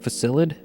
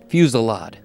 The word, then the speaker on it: fusillade: Facilid? Fusillade. You didn't know that.